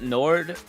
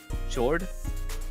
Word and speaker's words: Nord: Yo, the Altaria Nord. Jord? Nord. Pronounce the N.